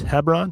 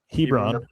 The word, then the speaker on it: Hebron: Hebron Hebron Hebron, Ohio.